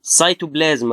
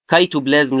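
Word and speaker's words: cytoplasm: هنا مثلا سايتوبلازم، ما بقولش كايتوبلازم، لا بقول سايتوبلازم. ليه؟ لان السي جه بعدها ايه واي، فبنطقها لايك سوفت اس، يعني ايه سايتو.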